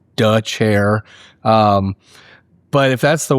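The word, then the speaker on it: Dethier: It looks like Dier. It is pronounced duh chair.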